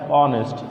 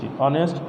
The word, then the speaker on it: honest: এ পাশে একটু খেয়াল করো কি আছে, ড্যাশ অনেস্ট HONEST অনেস্ট, তারপরে দিলাম আওয়ার HOUR আওয়ার। আচ্ছা, একটু খেয়াল করো, এখানে শব্দটা উচ্চারণ হচ্ছে হাউস, এখানে হচ্ছে হর্স, এখানে হচ্ছে হান্টার।